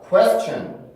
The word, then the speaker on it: question: 그러면 강세가 여기서 가지 못하고 에로 가고 순서에 덜어 발음을 해야 되기 때문에 이 소리가 쾌의 느낌보다는 구에의 느낌이 강해져요. 구에의 느낌이 강해져서 단어를 발음을 해보면 quest. 자, 발음 단어입니다. question.